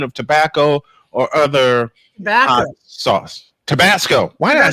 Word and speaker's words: Tabasco: I mispronounced it. It's Tabasco sauce.